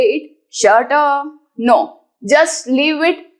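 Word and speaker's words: षट्: Number 6 shut. The pronunciation is same like you say shut your mouth, shut the door, shut the window. Similarly, shut. Do not stress more on this t.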